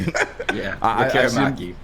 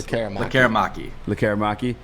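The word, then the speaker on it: Lekkerimäki: Lemeraki, or how the hell you say his name? Lekaramaki. How you say it one more time? I apologize. Lekaramaki.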